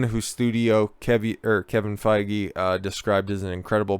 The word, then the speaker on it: Feige: it is kevin f feige feige make sure to pronounce that correctly if alonzo's past statements